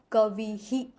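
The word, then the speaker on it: कवेः: तो इसका उच्चारण होगा कवि ही। फिर ए के बाद अगर आया हुआ है विसर्ग तो इसका उच्चारण होगा कवेहे।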